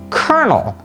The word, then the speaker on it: colonel: And who decided that the word C-O-L-O-N-E-L should be pronounced kernel?